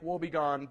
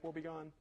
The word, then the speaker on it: Wobegon: a paper called Lake Wobegon be gone did I mispronounce that again Lake will be gone I got it right that time okay so Lake will